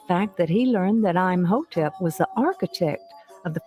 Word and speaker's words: Imhotep: increased by the fact that he learned that i'm hotep was the architect of the first pyramid as well as the first to use stone columns that so far is true imhotep was the first architect of a pyramid and